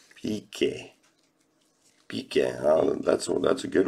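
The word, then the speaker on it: Piqué: PK. PK.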